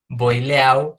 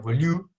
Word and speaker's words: Boileau: Que no se dice Boileau, sino Boileau, ¿no?